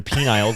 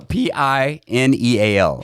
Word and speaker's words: pineal: um spell it correctly their penile gland their penial no no no p-i-n-e-a-l pineal gland okay here we go how